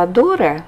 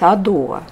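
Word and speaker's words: ADORE: Я сначала думала, что читается Адоре, но оказалось Адоа. Наверное, на французский манер. В общем, правильно оказалось так.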